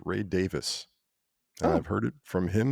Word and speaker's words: Davies: know the Kinks everyone calls the lead singer Ray Davies but it's actually pronounced Ray Davis I've heard it from him himself he's like